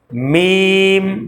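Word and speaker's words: ميم: যে দুই শুকন অংশ এটা মিশায়ে ফেলবেন আগে মিমটা শিখাই তারপর জিমটা বুঝবেন দেখেন মিম মিম মিম মিম দুই শুকন অংশকে এক জায়গায়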